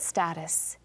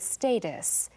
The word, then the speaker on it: status: Candidate status or candidate status. Status and status, same meaning, different pronunciations, both fine.